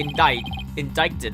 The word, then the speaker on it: indicted: Miss Woods is hereby officially indicted. The C is silent.